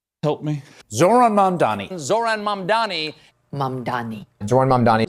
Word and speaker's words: Zohran Mamdani: This time, we're going to talk about, and let's all pretend that we know how to pronounce his name. Help me. Zohran Mamdani.